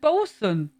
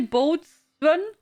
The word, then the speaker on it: boatswain: It's just bosun. Don't say boatswain. Do you skip that in between? Also Google Translate says bosun. And not boatswain.